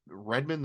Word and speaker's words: Redmond: that they call it Redmond the robot it's definitely like red man like you would say